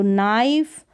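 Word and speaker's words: knife: आई के बाद तो नाइफ वाइड राइट यहां पर के जो है साइलेंट है का नाइफ नहीं पढ़ेंगे चलिए नेक्स्ट क्या है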